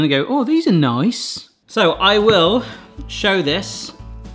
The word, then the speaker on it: Nice: And these are nice biscuits, but actually pronounced nice. There is a slight French background to these, but I won't go into it.